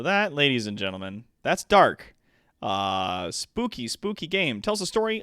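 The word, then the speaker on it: Darq: First off is a game called Dark. It's spelled D-A-R-Q.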